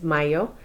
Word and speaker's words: mayo: I know it looks like Mayo. It's not Mayo, it's Mayo.